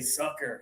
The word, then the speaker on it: sucker: And I want to you to add the pressure here. Ah sucker.